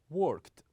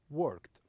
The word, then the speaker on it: worked: tit one tit but some of them has only one syllable like work do we pronounce it as a worked worked so this is the the